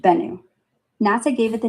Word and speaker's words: Bennu: Bennu, pronounced Bennu.